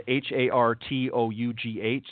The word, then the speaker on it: Hartough: So again, go to HARTOUGH. That's Hartough, is how it's pronounced, .com.